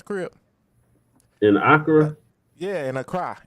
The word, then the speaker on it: Accra: Yeah, in Accra. It's pronounced Accra. Accra.